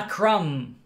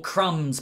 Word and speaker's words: crumb: is silent crumb thumb when a word ends in m b nothing else just m b normally the b is silent crumb thumb numb okay